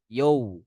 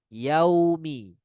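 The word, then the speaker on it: يوم: Atau dengan yo. Yo. Yo. Itu bacaan yang salah. Bukan dengan yo. Melainkan fokuskan di fathah. Ya. Baca waw dengan sempurna. Yaumi. Yaumi. Kalau bacaannya sempurna maka bibir akan monyok.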